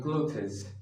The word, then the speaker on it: clothes: I hear many students saying clothes, clothes. This is not clothes. This is clothes, clothes, clothes, clothes. Repeat after me.